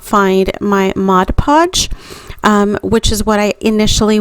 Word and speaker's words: Mod Podge: able to actually locate my modge podge Mod Podge because I get corrected every time I say it wrong um I went ahead